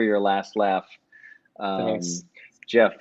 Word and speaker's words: Geoff: to spell my name it's jeff with a g g e o f f and last name